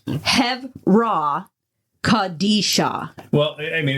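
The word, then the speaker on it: Chevra Kadisha: Heraisha. If I pronounce that wrong, honestly, people can correct me. Henry who? It's Hevra Kadisha.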